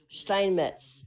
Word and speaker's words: Steinmetz: My surname is pronounced Steinmetz, but I know it's hard.